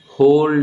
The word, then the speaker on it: Wohl: जमती rough degradation थिला third रे तमर अच्छी होल डिग्रेडेशन होल माने WHOL नुह WOHL होल होल इंग्लिश रे जो प्रोनाउंसिएशन करते केन करियो होल डिग्रेडेशन होल डिग्रेडेशन